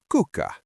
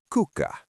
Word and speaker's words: kuka: The word for who is cuck. Say it with me. Cuka.